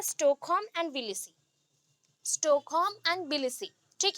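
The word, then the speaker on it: Tbilisi: अभी बिलीसी का spelling T से ही स्टार्ट होगा, बट बी, टी के बाद बी आता है, just like pneumonia. Pneumonia N से नहीं स्टार्ट होता ना, पी से स्टार्ट होता है, पी साइलेंट है, वैसे यहाँ पे टी साइलेंट है।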